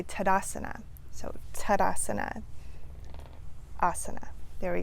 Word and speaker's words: Tadasana: We don't say Tadasana, and we don't say Tadasana, we say Tadasana.